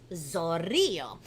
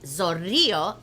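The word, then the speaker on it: zorrillo: and zorrio is skunk so it's kind of like a big word like lots of syllables so everybody let's break it down on the count of three ready one two three that's three syllables now make sure you roll the r's ready i love that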